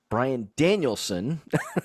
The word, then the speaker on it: Bryan Danielson: good match, and that was Kenny Omega versus Bryan Danielson.